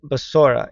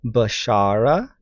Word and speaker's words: Besorah: going to go back to this word so basora it's bet shein R he so technically the old way of pronouncing it could have been bashara or bashra right um You don't have to have vowels